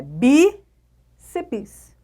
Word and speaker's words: bíceps: sílaba sozinha não pode então é bíceps por isso é uma paroxítona terminada em ps e não proparoxítona se ligou na dita